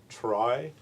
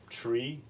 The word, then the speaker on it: trie: will pronounce it binary try but actually this word you're supposed to pronounce tree it's uh it's part of the word uh retrieval um but because we